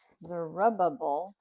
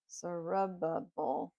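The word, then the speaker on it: Zerubbabel: Led by Zerubb Zerubbable. Zerubbable. That's how you say it. It's big and long. Zerubbable.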